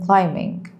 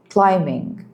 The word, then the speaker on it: climbing: Well, two silent B for example as in climbing. Climbing.